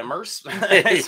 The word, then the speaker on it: Merce: How you pronounce that name? Merce? Yeah, Merce. say that.